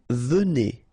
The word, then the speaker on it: venez: Vous venez. Okay, so a Z at the end combine will give you the sound E.